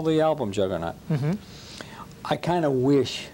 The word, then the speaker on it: Juggernaut: And a lot of people call it the juggernauts, and it's not a plural, you know.